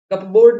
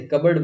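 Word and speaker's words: cupboard: कबर्ड, कपबोर्ड नहीं बोलते, कबर्ड बोलते हैं। कबर्ड की स्पेलिंग कैसे बनती है, कप और फिर लिखो बोर्ड, लेकिन इसको बोलो कैसे, कबर्ड।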